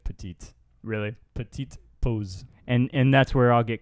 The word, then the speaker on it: pause: Petite pose. Petite pose. Pose. Yeah, you want to say pause like in English, but it's pose.